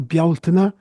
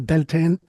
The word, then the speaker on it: Bealtaine: And then on the 1st of May, you have what we call Bealtaine. You'll hear it mispronounced often as Beltane.